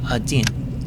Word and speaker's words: один: The second letter, which looks like a house, is the letter D. The backwards N is pronounced E, and the letter that looks like a capital H is the N.